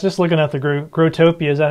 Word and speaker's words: Growtopia: well I was just looking at the gr grotopia is that how you say it grotopia grotopia yeah I just looking at the website for